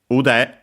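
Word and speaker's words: 腕: it shorter of course ud. Uh so actually accent on the last syllable means arm.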